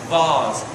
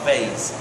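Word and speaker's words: vase: and by the way the pronunciation is bars not Bas okay a bars is worth far more money than a Bas okay I'll just just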